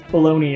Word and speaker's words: bologna: the beluga so this is an entire like bologna incident that's the only time i'll say it